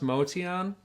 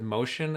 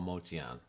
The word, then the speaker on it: Motian: I guess it's pronounced Motian, but he just went with Motion after so many years cuz that's what everybody would say. So, even he started calling himself Paul Motion, but I'm pretty sure his original pronunciation is Paul Motian.